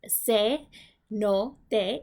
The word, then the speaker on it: cenote: The word cenote, which you hear me pronounce, is se no te, is a Spanish conversion